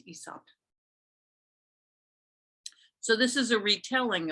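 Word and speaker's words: Aesop: you pronounced that is ESOP it's not pronounced asop it's ESOP so this is a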